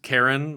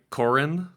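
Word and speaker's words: Karin: And then I want to shout out Eningga Ingga Landrren who plays Karen or I think they pronounce it like Corin.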